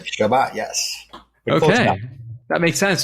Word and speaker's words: Chebat: Chebat, that's the correct pronunciation. Is that decent at least? It's close. Chebat is... Chebat. Chebat, yes.